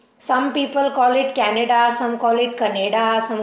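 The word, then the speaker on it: Canada: pronunciation है क्या right so the correct pronunciation is कनाडा और यह डिटरमाइंड कैसे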